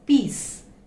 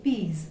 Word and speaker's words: peas: See, here we have the sound S, but the pronunciation is not peace, but it is peas. Okay, peas, for that green seeds, the vegetable.